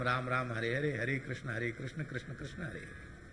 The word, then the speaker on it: कृष्ण: तो कृष्ण शब्द का उच्चारण कैस कैस, हरे कैस, हरे कैस, कैस कैस, हरे हरे से बोले। पंडित जी बोले ठीक से तो बोलो कृष्ण नाम।